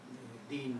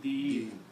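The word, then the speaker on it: دين: If you stop, Deen. don't pronounce this kasra here, it will be Deen.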